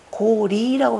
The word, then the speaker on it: 고려: 이수라고 하는데 우리는 그냥 여기서 여수했고 원래 고려도 고리라고 발음하는 게 그게 맞다 그러죠. 고리. 왜냐면은 여는 그냥 곱다라는 뜻이고 리 그러면 뭐냐면 밝다 이런 뜻이죠.